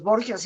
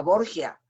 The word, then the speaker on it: Borgia: Sin embargo, la J, pues para los italianos no es fácil de pronunciar. Es el idioma italiano, es un idioma muy suave y la J no la pronuncian como nosotros. Y esa tendencia lingüística transformó el Borja en Borgia, que es la forma en que se puede pronunciar la J en italiano.